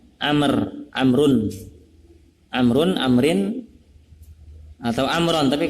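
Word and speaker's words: عمرو: harokatnya ketika ada tulisan begitu ada baunya berarti bacanya Amer amrun amrun atau amron tapi kalau amron ya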